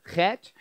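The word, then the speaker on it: ח: of tonight going on it's the Hebrew letter Ketch it's the first letter in the Hebrew word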